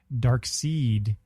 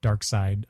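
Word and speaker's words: Darkseid: it does have a legion connection I always pronounced Dark Side dark seed for the longest time until I saw uh the uh the Super Friends u Series where Dark Side appeared and and it took a long time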